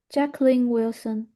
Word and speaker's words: Jacqueline Wilson: That's how I'd pronounce that. Yes. Jacqueline Wilson. Yeah. And again, please. Once again, Jacqueline Wilson.